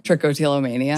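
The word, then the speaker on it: trichotillomania: Trickotillamania. Trickotillamania.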